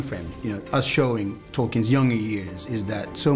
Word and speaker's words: Tolkien: ¿Tolkien? Se pronuncia Tolkien.